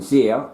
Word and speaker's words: xyr: I asked XYR meaning zeer, I asked zeer to come to the movies. XZ said yes. Now, children, do you understand? We'll go through it again. XE/XYR, okay, commonly pronounced as zeer.